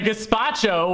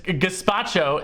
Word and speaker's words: gazpacho: it's under sink you just said it's a despacho whatever the hell it is it's not a